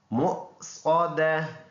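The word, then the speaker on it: مُؤْصَدَة: तो इसको हमने ऐसे पढ़ना है मुक़्सदा, यहाँ वक़फ़ करेंगे, यहाँ पे कन्वर्ट और दोनों पेश साइलेंट।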